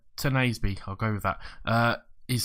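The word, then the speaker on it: Tuanzebe: Squad-wise, as I said, someone was saying I was saying it wrong, and it's Tenasby. I'm terrible at saying these names. Tenasby, I'll go with that.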